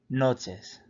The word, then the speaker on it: noches: the first word and the second word kind of sounds like nachos like you know the chips with the cheese but instead of there